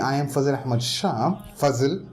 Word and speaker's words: Fazil: Fazil, Fazal, that's how it's pronounced.